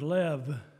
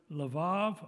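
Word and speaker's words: לב: at the definitions the hebrew word is lev it's two letters lamid base there's an e in the middle in the english because that's what the masoretic scribes told us how it was to pronounce this word lev or vebel is the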